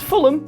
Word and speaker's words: Fulham: When you see the word ham at the end of the name, it's actually pronounced Okay, so Clapham is Clapham. Fuck. Yes. Fulham is Fulham.